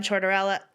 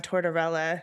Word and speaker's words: Tortorella: all he's gonna say uh the coach John chardarella is that how you say it John Tortorella I should know John Tortorella uh he well